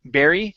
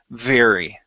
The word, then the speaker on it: very: very okay uh so instead of saying bar Barry your R is okay but your V make sure you're saying V very okay that was the only